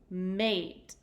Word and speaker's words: mate: hasn't at the end when a word ends in an e I need to make sure that I make the long vowel sound so I'll say a mmm a mate that is a silent